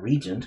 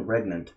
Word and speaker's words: Regnant: Not Regent, because it would be pronounced it. So Queen Regnant.